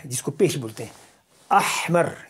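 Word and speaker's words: أحمر: کو پیش بولتے ہیں۔ احمر، یہ تلفظ آپ جب بھی کیجئے تو صحیح طریقے سے کیجئے، اس کو آپ اردو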